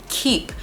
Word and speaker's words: Keap: And last but not least is Keep, and it's spelled Keap, and they have been